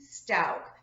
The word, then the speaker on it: Stauch: still ongoing of Gannon Stoke now I have seen it pronounced stauch and stuck it's sto uch but I believe the proper pronunciation is Stoke anyway I'm actually surprised